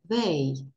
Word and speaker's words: they: Дивіться, звук цей міжзубний, ніби кусаємо язичок. They. Тобто дуже-дуже часто дітки, коли слухають аудіювання, чують цей звук як «д».